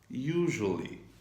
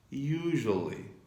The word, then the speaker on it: usually: you use the word usually. Usually. And please pay attention, it is written with S, but it is pronounced like J.